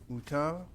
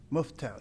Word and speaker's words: Muftal: The Union County First Deputy County Counsel, Mashad, I know I'm not going to pronounce this correctly. Mutal, Esquire. Muftal, yes, right, Muftal, will be the featured speaker.